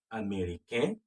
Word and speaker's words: américain: Je suis américain. The N is silent.